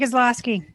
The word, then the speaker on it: Kozlowski: You did, Kozlowski.